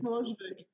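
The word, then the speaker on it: Milojević: Milojevic.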